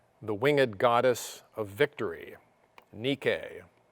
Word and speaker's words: Nike: winged goddess of victory nikkei whose name comes down to us today pronounced nike those expensive shoes that